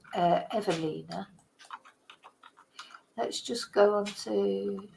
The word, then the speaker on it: Ewelina: the coroner for umina evina keep saying uina because it's a w but it's pronounced a v said evina let's just go on